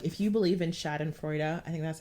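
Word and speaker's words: Schadenfreude: you want to like if you believe in chad and freuda i think that's how you say it that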